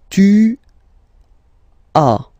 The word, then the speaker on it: tu as: Second one, tu as, okay. As usual in French, final S is not pronounced. Tu as.